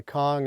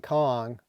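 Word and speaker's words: Viet Cong: only Kong is spelled with a C because the Vietkong which relates to the it was the generic term for the uh uh communistled arm movement in South Vietnam.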